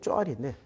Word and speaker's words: 소알: 소알이 아니고 쪼알인데 쪼알. 발음상으로는 쪼알인데 소알이라고 번역을 했는데.